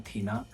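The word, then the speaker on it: Athena: बहुत लोग अथीना भी कहते हैं बट शायद ए साइलेंट होता है थीना।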